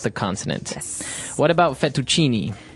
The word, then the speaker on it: fettuccine: mushroom sauce, but the prawn fettuccine is also very nice.